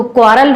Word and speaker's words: quarrel: निकल रहा है ना, क्वा प्रोनाउंसिएशन पे ध्यान दीजिएगा, क्वा होता है, कोई नहीं होता है कि ई आ जाएगा, कोई नहीं हो रहा है, क्वा हो रहा है, तो क्वारल हो गया, क्वारल्ड हो गया,